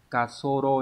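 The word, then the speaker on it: 滑走路: Cái từ từ này ấy, nó đọc là kasoro nhá, có nghĩa là cái đường băng.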